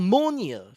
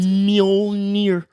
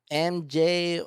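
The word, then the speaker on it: Mjölnir: Spell it. Mjonar, Mjolnir. You forgot the L. There's an L in it? Mjolnir, I think. It's Ah. Mjolnir.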